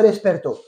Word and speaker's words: despertó: Et l'accent tonique est sur le O. Mi mujer no se despertó.